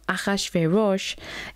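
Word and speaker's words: אחשורוש: of king of achashvirosh now akhashvirosh is obviously how it's said in hebrew and so that's how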